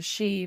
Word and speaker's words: Sidhe: trying to build it on a she, that's spelled Sidhe. This is an invisible fort for fairies. And he said that his grandfather believed it was a she because every single morning